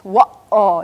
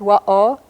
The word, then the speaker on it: wa'aw: Very smooth, but it's wa'aw. It's got that little interruption or stop or waiting in the middle of it. That's the glottal stop. So cat is wa'aw, and the word for hand is ma'aw.